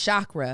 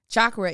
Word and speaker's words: chakra: chakra often mispronounced as chakra that's wrong with the sss first syllable chakra hindu is a hindu site chakra is actually pronounced with the cha with the sound heard in patch and munch i was like because